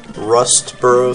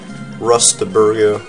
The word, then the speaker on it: Rustboro: name by the way it's actually rustboro city gosh i always get the name wrong rustaburgo that's why i called it when i was too young to pronounce things like this correctly and i guess it stuck because even after knowing the true name i always mispronounce it always that's not your